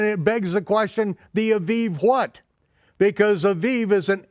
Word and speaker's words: Aviv: say the month of Abib. Okay, I don't care whether you pronounce it with the vet or the bet. It really doesn't matter. Jews today pronounce it with the vet, okay? Aviv.